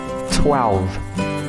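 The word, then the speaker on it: twelve: Vậy thì tôi cần lưu ý cho các bạn, đó là cái phần âm đầu là âm twa. Bạn cần phát âm ra là twa. Twa. Liền vào ạ.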